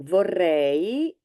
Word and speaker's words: vorrei: So vorrei, don't forget to pronounce the E, the last E, so the EI, or in Italian EI, vorrei, I would like, followed by whatever you'd like to have.